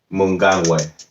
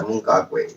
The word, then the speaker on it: Mnangagwa: And I said his name wrong. It's Emerson Mnangagwa. Yeah, Mnangagwa. That's him.